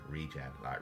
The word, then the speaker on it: Regen: I always say regen. Regen, like regeneration.